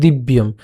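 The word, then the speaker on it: দিব্যম্: এবং এখানে ম আছে যেটি, এখানে আমরা মকে নিয়ে আসলাম, তাহলে দিব্যম।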